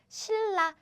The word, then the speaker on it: 신라: So yes, as you can guess, what's written is 신라, but it's easier to pronounce it if you write it like this. 신라.